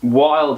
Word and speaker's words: Wilde: Wilde is spelled with W-I-L-D-E. So it's sort of not spelt wild, but it is type deal.